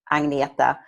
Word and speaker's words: Agneta: my first name is a little tricky to pronounce it's easier when you see it spelled it's a G n e ta Agnetha so my first name at life and wellness